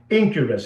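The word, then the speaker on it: Enquirus: So, that is the first one and it's called Incurus. It's spelled E N Q U I R U S, you know, and you go there and you look at that one.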